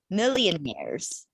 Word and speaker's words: millionaires: mainly a nervous see you say mary's nares that's one one syllable nairs snares yeah it's not mary's yeah so you're saying it three syllables but it's millionaires okay medium english okay